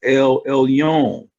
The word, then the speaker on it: Elyon: This is pronounced Elyon, or the word Elyon, Elyon, right?